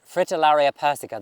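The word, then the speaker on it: Fritillaria persica: are more persica fritillary fritillaria persico this is how you say it but this is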